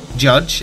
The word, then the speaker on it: JYDGE: at and today we're taking a look at judge it's felt jyd GE but it is pronounced judge and it's by ten tons limited missus their